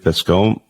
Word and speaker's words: Bascombe: Dave Bascombe.